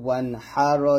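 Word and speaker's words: وَانْحَرْ: ধরবে, ওয়াও নুন জবর ওয়ান, হা র জবর হার। তাহলে একসাথে হবে, ফাসল্লি লিরাব্বিকা ওয়ানহার। এই হাটা উচ্চারণ করতে গেলে যেন হার না হয়, এটা বলতে হবে হাওর চাপ দিয়ে, ফাসল্লি লিরাব্বিকা ওয়ানহার।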